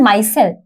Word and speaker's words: micelle: अब जो important part है ना इसी टॉपिक का वो है माइसेल। कुछ लोग इसे मिसेल्स भी प्रोनाउंस करते हैं, तो मिसेल्स ऑल्सो राइट प्रोनाउंसिएशन, तो मिसेल्स भी आप बोल सकते हैं, माइसेल्स भी बोल सकते हैं।